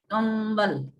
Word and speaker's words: कंबल: तो इसीलिए वो अनुस्वार रहता है लेकिन उसका उच्चारण होता है कंबल.